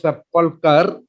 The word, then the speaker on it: sepulchre: Then sepulchre is pronounced as sepulchre, sepulchral.